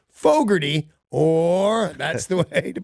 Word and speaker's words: Fogerty: the way I said Fogarty I wanna try that there's an R in it I did not pronounce Fogerty or that's the way